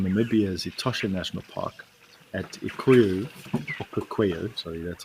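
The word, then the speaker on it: Okaukuejo: This is now, we come about 3,000 kilometers west across 3 countries and are now in Namibia's Etosha National Park at Okukweyo, sorry, that's how you say it, Okukweyo.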